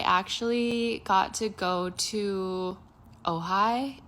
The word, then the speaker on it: Ojai: This past weekend, I actually got to go to Ojai. It's spelled O J A I for those people